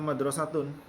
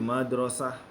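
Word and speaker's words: مدرسة: Ya, ini aslinya madrasatun. Tapi karena kita wakafkan menjadi madrasah.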